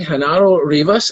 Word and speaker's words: Genaro Rivas: and gentlemen, we have with us this evening Genaro Rivas. Am I pronouncing your name correctly?